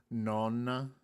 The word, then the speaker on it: Nona: For Nona, you should pronounce it like Nona, but the second N should be so like an extended vowel. So like Nonna. Nonna.